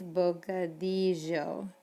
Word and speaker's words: bocadillo: We talked about that double L sound. It's bocadillo. Double L's make the same sound as like a Y in English.